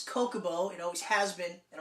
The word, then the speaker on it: Chocobo: silent or not yeah my argument was my name is spelt chri yes I see Chris so I would say Coca Bo but chocolate misspelled CH oh yeah I can see why people would say chocobo and it's wrong completely wrong it's Coca